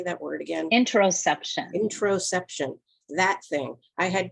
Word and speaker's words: interoception: Well, I knew we were going to talk about, and I already forgot how to pronounce it, that internal sensory system. Yes. How do you say that word again? Interoception.